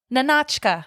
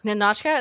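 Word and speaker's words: Nahnatchka: of this film okay nka nka is that okay yeah you said it right that's perfect no you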